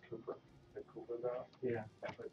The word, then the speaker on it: Kuiper: It's pronounced Cooper.